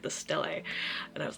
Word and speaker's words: stele: I had to look up how the actor said it because I didn't want to say it wrong, and I'm pretty sure they're saying it the stele.